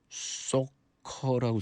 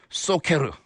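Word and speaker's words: Socker: 화이팅 할 수 있게 스웨덴 밴드 켄트의 소커라고 써있는데 스웨덴어니까 소케르. 소케르 그러니까 왠지 짓궂게 일부러 발음 틀리게 읽는 것 같은 기분인데 이게 맞는 발음입니다.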